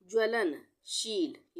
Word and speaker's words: ज्वलनशील: ज्वलनशील, यह है ज्वलनशील, आधा ज व ल न, ज्वलन, इसको एक साथ पढ़ेंगे, ज्वलन और शील। अगर यहाँ पे पूरा ज होता तो हम इसको क्या पढ़ते? जवलन, ज्वलनशील पढ़ते, पर यहाँ पे हमने क्या,